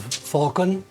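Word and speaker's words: Phaulkon: So, when you return, um, come to the Abbey of Falcon. That's P H A U L K O N.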